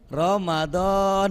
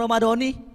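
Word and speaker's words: رمضان: Ya, disukunin Pak. Jadi bacanya apa? Ramadan, sukun dah tuh.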